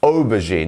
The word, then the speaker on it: aubergine: As you can see here, we have the stressed syllable here. So, aubergine, not aubergine or aubergine. You see? Aubergine.